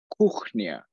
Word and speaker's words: kuchnia: I said the word for kitchen in Polish, which is kuchnia, okay? K-U-C-H-N-I-A, okay? Se escribe K-U-C-H-N-I-A. Ahora, los que hablan español, the ones that speak Spanish, know that C-H-C-H suena Ch, okay?